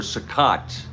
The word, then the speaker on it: Cicotte: Colt or Cicotte is actually the pronunciation.